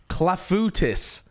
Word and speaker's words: clafoutis: It's probably French, right? So it's clafouti.